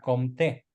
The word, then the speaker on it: Comte: se escribe Augusto compte dije que la e final Como no se acentúa en francés es una e muda entonces pronuncia con si llevara acento se pronunciaría comte bien bukele está haciendo